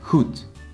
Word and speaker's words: goed: When the D is on the end of the word, it's often pronounced as a T. For example, goed, which means good.